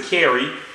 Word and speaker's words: Sha'Carri: Some people pronounce it Sha'Carri. I know her from Oak Cliff. Yeah. Sha'Carri.